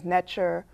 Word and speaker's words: Neter: In the Kemetic faith, we call it Inter, or you might have heard it as Netcher or Netcheru. There's several ways of pronouncing it.